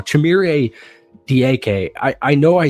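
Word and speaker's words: Dike: Chimere Diake. I know I said it wrong. I know you don't pronounce it Dyke, but he's a wide receiver out of Florida.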